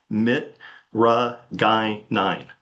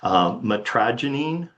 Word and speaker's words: mitragynine: Most commonly, I'm going to call it mitragynine. Mitragynine. But other acceptable pronunciations of this are metragenine or mitragenine.